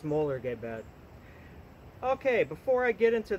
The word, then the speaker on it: Mollegabet: molar gay bad bone some people pronounce it Molly gay bet or just call him Molly's but I had a person that actually speaks the language say it's molar Gabe ed okay before I get